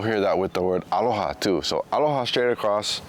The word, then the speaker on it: aloha: And sometimes that first a is emphasized, but we don't write a line on the top of it. Sometimes in greeting people maybe say aloha aloha.